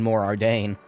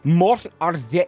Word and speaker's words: Mor Ardain: through all that in Mor Ardain. Sorry, I think you mean Mor Ardain. I can't. How the fuck do you roll your R's?